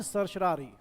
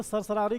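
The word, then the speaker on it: certiorari: ठीक है, और सरशरारी ये एक ऐसी रिट है जो 5 लोग 5 तरह प्रोनाउंस करते हैं इसका नाम। अब मेरा एक फ्रेंड था, वो तो अलग ही प्रोनाउंसमेंट होती थी उसकी, वो इसको सरसरारी कहता था।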